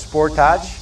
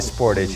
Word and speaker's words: Sportage: says sportage you know in europe i think you guys pronounce it as sport touch but we call it sportage here in korea 4x uh just like